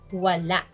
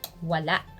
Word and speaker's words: wala: is it means nothing voila the stress is on the last syllable voila examples if somebody asks